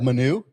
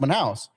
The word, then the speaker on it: Manaus: city in Brazil, Manaus, but he said like Manu, and I was like, how do you not know it's pronounced Manaus?